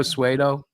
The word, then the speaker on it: pseudo: that's kind of like when I used to pronounce um hybo hyperb that was great I know you're funny or pseudo suo listen guys listen he is the worst with